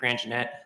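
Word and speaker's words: Grandgenett: yeah um good afternoon my name is granjanette that's spelled n-i-c-k-g-r-a-n-d-g-e-n-e-t-t I'm a Staff attorney with Nebraska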